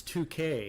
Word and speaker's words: toque: You have to pronounce it properly. It's 2K. It's not 2K. It's a 2K.